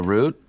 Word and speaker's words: route: Also, there's another pronunciation for that. Route. Route. Or route. Either is fine.